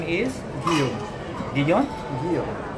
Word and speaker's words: Guillaume: Guillaume. Guillaume? Guillaume. How do you spell it?